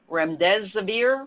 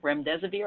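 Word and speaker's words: remdesivir: you've probably heard about the most is the REM des abeer REM des abeer I think I'm pronouncing it correctly this is a new antiviral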